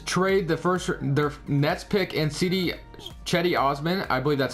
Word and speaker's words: Cedi Osman: All right, so we're in this NBA draft, and the Cavaliers trade their Nets pick and Cedi Osman, I believe that's how you say it now, for Kemba Walker and Dwight Howard.